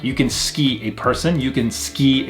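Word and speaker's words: すき: Now, with this right here, although it is spelled su-ki, we don't pronounce it as suki, we pronounce it as ski, almost like S-K-I, almost like we drop the U sound off this right here.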